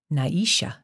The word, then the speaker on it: Nisha: second syllable to kihala the second name sounded like three syllables Naisha I recognize the Lena